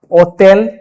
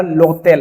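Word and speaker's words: hôtel: cafe cafe बाख बाग ओतल होटल और इसके आगे मान लो ये लगा दिए एच ऑफिस तब क्या लोतेल एच तो ऐसे भी प्रोनाउंस नहीं होता तो क्या हो जाएगा लोतेल okay bank bank post post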